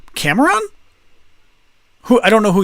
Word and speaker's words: Cameron: Cameron, first syllable. That's how we pronounce that name in English.